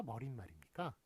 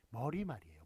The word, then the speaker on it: 머리말: 자, 그럼 참고로 발음이 머리말입니까? 머릿말입니까? 이거 많이 헷갈리시죠? 근데 머리말이에요. 머리말. 그 다음에 꼬리말입니다. 머리말, 꼬리말. 제일 처음과 제일 마지막에 들어가는 서론 결론에 해당하는 거 있죠? 머리말, 꼬리말이에요. 머릿말, 꼬릿말 아닙니다.